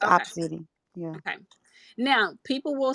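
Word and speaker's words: Opcity: me if I'm wrong is it obsidy I think it's spelled o p c i t y yeah I may not yeah that's how you spell it it's just opposite yeah okay now people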